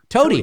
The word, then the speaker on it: Toady: Toady. Hey, Toady. It's like Tony, but not.